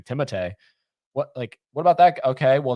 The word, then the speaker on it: Timothée: Timothée, 'cause that's how you say his name, Timothée.